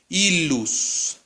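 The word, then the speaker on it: illus: Es como una L larga. ¿Sí? Una L larga. Entonces aquí dice ilus.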